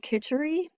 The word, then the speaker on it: khichdi: So there's a meal called khichdi. It's spelled Kitchari.